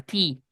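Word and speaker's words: tee: las bolas de golf se llama T, así con doble e y coincide con la pronunciación de la palabra T.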